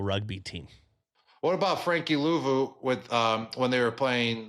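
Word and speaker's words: Luvu: How do you say it? Louveau? Louveau. My bad, Frankie.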